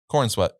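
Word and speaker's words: Corenswet: course already knew about uh how do you pronounce his last name corn sweat corn sweat corn sweat yeah okay I thought corn sweat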